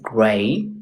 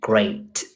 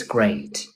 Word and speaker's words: great: Is gray. You said it's gray. It should have been is great. One more time. It's great.